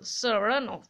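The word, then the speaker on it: Saranoff: হি প্রোনাউন্সেস the name with the stress on the second syllable, সারানফ।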